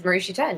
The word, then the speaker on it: Marishi Ten: is that how you pronounce it is it that is marishi 10 you are correct okay good good you know